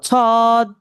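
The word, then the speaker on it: صاد: এভাবে প্রথমে ছ ছ এবং দছদ ছদ একটু টান দিয়ে বলতে হবে ছ আচ্ছা তাহলে হ্যা বুঝতে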